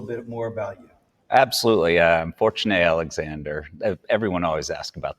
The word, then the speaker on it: Fortuné: Fortuné Alexander. Everyone always asks about the name. How did you pronounce it? What is it? It's a French name. It's an old family name.